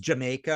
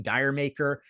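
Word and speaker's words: D'yer Mak'er: of the Holy right uh pronounced Jamaica or de deer or kind of thing di maker um it's impossible to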